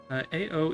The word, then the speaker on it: Ao: AO is pronounced like Ao, which in Japanese, or is Japanese for blue.